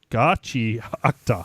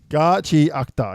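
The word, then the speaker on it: Gachiakuta: It's pronounced Gachikakata. Gachiakta. Fucking nailing this. Gachiakta, yeah.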